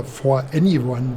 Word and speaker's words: 4NE1: अगले बूथ पर, Neura robotics का 4NE1, या फॉर एनीवन (जैसा कि इसका सही उच्चारण है), काम कर रहा था।